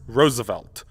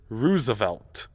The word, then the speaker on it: Roosevelt: this wrong especially in the United Kingdom it's pronounced Roosevelt although in a bizarre foreshadowing of the Jif